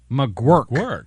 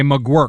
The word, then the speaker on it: McGuirk: McGuirk. Okay, that makes sense. Okay, McGuirk. Yeah, I butchered his name, and I butchered Jeremy Isbell's name.